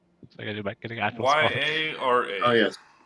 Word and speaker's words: Yara: have something but I don't know how to pronounce what I wrote down then I do back get Act y a r a oh yes y a r Yara was she